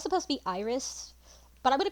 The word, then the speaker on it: Iris: call her edies because that's the way I pronounce it so I'd also I know it's supposed to be Iris but I'm gonna call her edies just like I did just like I did